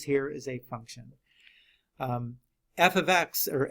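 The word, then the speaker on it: f(x): is a function um f ofx or F parentheses x you read it like that you say f ofx right that's how you say it it's not F time x it's F ofx you cannot split the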